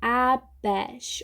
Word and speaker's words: abash: Abash. Olha como muda, né? Abash, 2 sílabas.